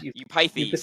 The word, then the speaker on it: Eupithes: Eupithes, thank you. Eupithes? Yeah. Eupithes, as a contrast, who has, as it were, you can have a bad father with a bad son, which I think is Eupithes.